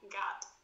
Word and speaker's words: God: Se quiser ajustar ainda mais, certifique-se de pronunciar o R de glory de forma suave e o God com um som de A bem curto, como em God.